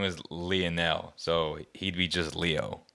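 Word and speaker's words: Lionel: player like leo messi it's leonel messi right leonel is how you say it um next super bowl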